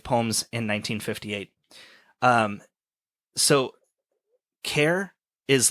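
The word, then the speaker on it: XAIPE: um so care is like I am Greek letters anglicized to their closest English equivalent although spelled x-a-i-p-e it's pronounced care which in Greeks means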